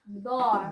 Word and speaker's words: door: round your lips, Door. round your mouth, and pull back your lips. Door. Door. Door. Like four. Four.